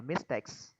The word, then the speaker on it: mistakes: Mình sẽ hạ giọng ở âm đầu và sẽ nhấn âm 2 lên là mistakes.